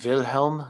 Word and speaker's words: Wilhelm: first we have king wilhelm because w's are pronounced like v's in german and v's are pronounced